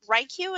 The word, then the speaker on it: WriQ: more kind of intently this fall it's called ryq that's how it's pronounced but what it is essentially is it's